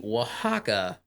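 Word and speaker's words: Oaxaca: crafts of a culture also just in case you're going to Google it it is spelled like o x a cxa or some weird ass oax it's spelled like oax yeah if you want if you want to know how to spell it go to your supermarket and look for w Haw and cheese it start it starts with an O it doesn't start with a W right and it's a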